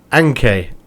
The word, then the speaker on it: NK Maribor: it's the mughal club so i think it is n.k but they don't say it like that in slovenia according to my comments it is like anke anke marabou i think is how you pronounce it but uh we're